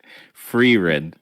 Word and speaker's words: Frieren: Ryan also had the fire and how do you pronounce it? Free Red.